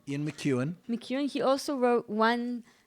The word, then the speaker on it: McEwan: Ian McEwan.